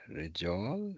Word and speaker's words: رجال: Rijal. Rijal. No. That's it. Rijal. Rijal. رجال Yeah. So this Rijal is in fact pattern number 4. Oh. Rijal. Rijal. So it rhymes with fi'al.